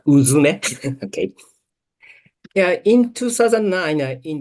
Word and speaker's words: UZUME: The correct pronunciation is Uzume.